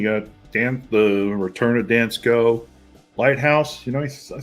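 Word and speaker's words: Dansco: we go here we go that's how you pronounce it dance go okay they got set three and twenty Cent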